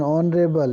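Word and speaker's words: honourable: एन ऑनरेबल, इसी प्रकार इसमें भी एच साइलेंट है, एन ऑनरेबल।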